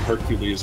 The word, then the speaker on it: Hercules: But also in Rome, they called him Hercules, I believe, because it was the Roman pronunciation as Hercules.